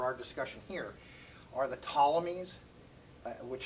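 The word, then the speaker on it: Ptolemies: discussion here are the tommies which starts with a P but you don't pronounce the P it's PT uh is the the tommies and soluces so by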